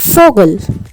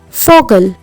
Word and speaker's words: Vogel: V is pronounced like the F in the word for. In German, we have the word Vogel. Vogel, which means bird.